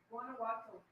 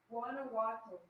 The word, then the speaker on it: Guanajuato: What is it called? Guanajuato. Guana or Wana? Guanajuato. Guanajuato. How do you spell it? Guan. Oh, with a G.